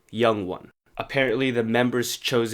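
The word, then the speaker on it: 영: So TXT announced their fan club name, Young One.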